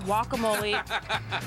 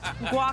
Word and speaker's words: guacamole: I'm going to make a guacamole which is pronounced guacamole not guac guacamole every Yankee in the world is like